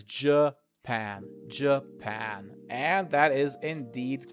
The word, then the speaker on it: Japan: And remember, it is not Japan or something like that. It is Japan.